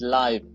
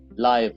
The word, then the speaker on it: live: function of words changes the sound they are pronounced as. For example, let us go to the first word here. The word is live. For example, L-I-V, live or live.